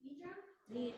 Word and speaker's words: nidra: Is it pronounced Nidra?